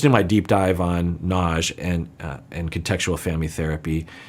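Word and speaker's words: Nagy: you can listen to my deep dive on Naj and and contextual family therapy knowledge is spelled n-a-g-y and a big part or a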